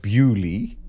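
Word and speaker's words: Beaulieu: about Britain but beulie there is an actual town called bewley is there yes but he actually spell it as you would the French Leo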